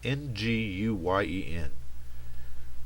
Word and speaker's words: Nguyen: Jeff Nguyen, I see this name at work and I still have no idea how to pronounce it. One day I'll figure it out. It's Nguyen.